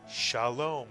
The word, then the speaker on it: Shalom: 2 vowels, 2 syllables. The word is Shalom.